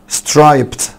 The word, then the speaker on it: striped: striped striped خلي بالك قلنا بعد البا ساوند الاي دي بتنطق تا، عشان كده قلنا striped striped striped. دي لونج اي خلي بالك.